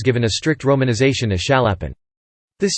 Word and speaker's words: Chaliapin: However, in the Russian pronunciation the initial consonant S is pronounced like sh in shop, not as ch in chop, and in reference books the surname is sometimes given a strict romanization as Chaliapin.